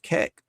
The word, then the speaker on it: Kek: So it's so ancient, but it's pronounced Kek.